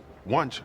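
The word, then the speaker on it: Wuntch: other oh my God wch sounds like lunch oh this opens up so many new avenues as as hilarious as his realization that lch rhymes with lunch is we had to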